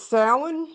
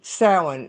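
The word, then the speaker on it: Samhain: It's known as sin in the pagan tradition of Europe. And sin, s a m h a i n. It's Gaelic. So it it's pronounced nothing like it.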